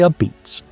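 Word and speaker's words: apizza: You say a beats. It comes from old Neapolitan dialect, and people in New Haven will correct you, calmly and immediately if you get it wrong.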